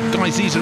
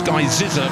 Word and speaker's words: Guy Zizza: Guy Ziza is not, it's Guy Zizza, because Marcus said he told me himself, and from the horse's mouth we will take it.